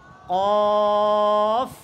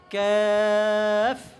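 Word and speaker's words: كاف: এটা এটা পাতলা উচ্চারণ। এটা কি হবে? পাতলা উচ্চারণ। কি বলতে হবে? ক্যাফ। কাফ নয়, তারপরে কাপ বলা যাবে না।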